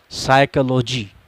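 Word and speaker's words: psychology: silent letters से है पीके silent होने का जाप्ता यह है कि अगर पी के बाद पैन या एस में से कोई एक हर्फ़ और तो फिर भी हमेशा साइलेंट रहता है उसको पढ़ा नहीं जाता है विशाल आपके सामने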